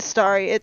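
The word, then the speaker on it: Festari: Fastari. That's how it's pronounced.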